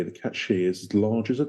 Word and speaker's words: Cait Sith: Anyway, we're allegedly going to be talking about pronounce this bloody thing, a cat she. I don't want Gaelic Twitter after me. Like she-cat.